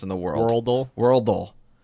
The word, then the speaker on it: Worldle: Worldle. It's not Wordle, folks.